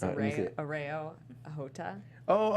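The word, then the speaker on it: Areo Hotah: I really don't know how to pronounce his name from the show. It's let me see it. Areo Ahota. Oh, Areo Hota.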